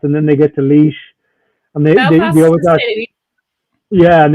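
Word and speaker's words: Laois: county is that it took me ages to work out how to pronounce leash because it's not a spell like oh yeah lois yeah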